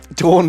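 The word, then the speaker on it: Dorn: no judgment in sles dor rhymes with corn dor does rhyme with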